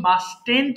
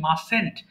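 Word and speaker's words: mustn't: সবাই একটু খেয়াল করেন উচ্চারণটা কিন্তু মাস্টেন্ট হবে না হবে কি মাসেন্ট আই মাসেন্ট রাইট আমি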